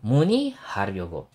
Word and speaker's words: 문의하려고: So this one, kung nahihirapan ko yung basahin, isipin nyo na lang pag nasa gitna siya ng dalawang syllable, ang basa dyan ay E.